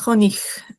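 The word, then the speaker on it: Honig: sea, cuando, o sea, la g está al final y hay una i al costado, se pronuncia como una cjig, o sea, esa H se pronuncia como una J, como hon. Ya explicaré que la Ch, o sea, CJ en alemán es como una una J suave, ¿sí?, pero aquí es jonig.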